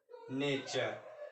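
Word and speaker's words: nature: यानी टी के बाद वर्ड मीनिंग का ऐसा इंग्लिश लैंग्वेज में बनावट है कि टी के बाद अगर यू आ रही है तो उसमें च उच्चारण होगा, सीधे पिक्चर और नेचर हो जाता है।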